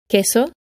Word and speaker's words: queso: In Spanish, the letter Q is almost invariably followed by the letter U, which is silent, and together they are pronounced K. Queso, 15.